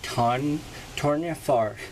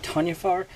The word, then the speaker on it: Toryn Farr: Black Series number 23, Toryn Farr. So without further ado, let's get started. And by the way, I've been calling her Tanya Farr. That is obviously way off, but my apologies if I keep pronouncing it that way.